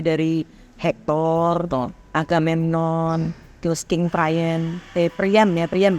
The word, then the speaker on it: Priam: Ada banyak leader yang bermain di situ kan, mulai dari Hector, Agamemnon, terus King Priam, bacanya Priam.